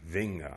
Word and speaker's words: Vinge: His father's name was Axel Vinge, we pronounced it over there. V-I-N-G-E, or Vinga, I suppose you'd say, huh?